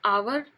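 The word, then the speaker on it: hour: लेकिन हम आवर एच ओ यू आर से पहले भी एन का यूज करते हैं। क्योंकि वहां पर जो एच है वह साइलेंट रहता है।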